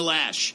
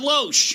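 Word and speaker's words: Loesch: still can't pronounce Dana lash it's not low SH and she's not the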